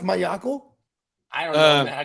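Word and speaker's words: Maiocco: It's pronounced Mayako. I don't know, man. I can't. Matt Mayo.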